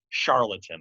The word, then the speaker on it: charlatan: pascal becomes an intellectual charlatan charlatan i should say that's the correct pronunciation with his talk of